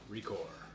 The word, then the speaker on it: ReCore: up was record record record record record they pronounce it record but recore when we were of course yes joel what